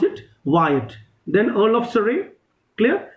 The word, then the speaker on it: Wyatt: three names one is uh we we actually pronounce it wyatt w y a double t how we pronounce it wyatt then earl of surrey clear these two people